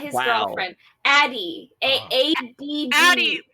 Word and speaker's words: Addie: Addie with 2 D's rhymes with daddy.